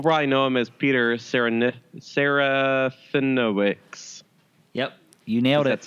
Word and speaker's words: Serafinowicz: Most people probably know him as Peter Serafinowicz.